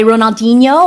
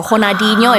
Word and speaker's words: Ronaldinho: He was presented the award by Ronaldinho or Honadinho if you want to use the correct pronunciation and that was quite special because of course Honadinho being the Brazilian legend and he also uh